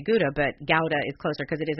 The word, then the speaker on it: Gouda: we say Gouda but Gowda is closer because it is actually how does something like that but their campaign was Gowda rhymes with Lauda which if your English